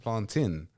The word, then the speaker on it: plantain: even though there's an A in there, but Yeah, you know, exactly. Okay, no, that's cool. You know, it's like Django. You know, like the J is silent, or like D is silent. One of them. You know, so like isn't the A is silent in plantain.